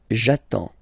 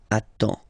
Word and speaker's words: attends: So the first form will be j'attends, j'attends, okay? You get D and S, well, basically you don't pronounce them, okay? And then you get only the sound attends, nasal here, en, j'attends, okay?